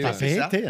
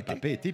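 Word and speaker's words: Papeete: Mais comment tu prononces Papé était. Papé-Été, hein, Ouais, ouais. Papé-Été, puisqu'il y a Bon, deux là-bas, œufs.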